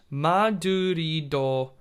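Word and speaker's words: マドリード: doitsu this over here is um uh madrid madurido and over here is spain this had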